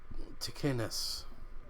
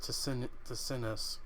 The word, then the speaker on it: Ticinus: So it's pronounced Ticinus. For some reason, I thought it was pronounced Ticinus.